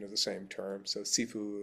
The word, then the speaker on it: Sifu: So sefue with a hard S is Cantonese and because of Bruce Lee coming from the area around Hong Kong, that's why it's pronounced that way.